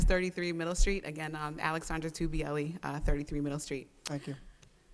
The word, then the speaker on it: Tubielli: Tagbiello? It's Alexandra Tubielli. The G is silent, but it's, you know